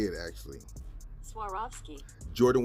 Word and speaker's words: Swarovski: Air Jordan one retro that I'm going to butcher the name so this is how you say it actually Swarovski Jordan 1 high is releasing in the summertime